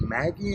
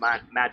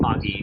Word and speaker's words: Magi: And you also did voice acting for the cartoon Maggie, I believe? Magi, yes. Oh, it should be pronounced Magi. but- Magi. No, Okay. but, it's Magi in how we've done it, and yeah, that was